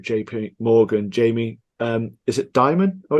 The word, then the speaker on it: Dimon: Is it Dimon? Oh, it's pronounced. Yeah, Jamie Dimon.